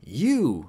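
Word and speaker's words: よ: Yo is pronounced like yo in yo-yo. In British English, it's more like yo in yonder.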